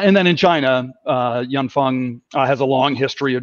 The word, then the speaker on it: Yanfeng: something that's pretty popular turns out it's yanfeng um funny story as to how to mispronounce that that leads because yanfeng is actually a chinese set of words right yan and fung uh if we have